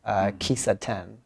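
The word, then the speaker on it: kissaten: And you often talk about these Japanese coffee houses, Kisaten, right? Am I pronouncing it right?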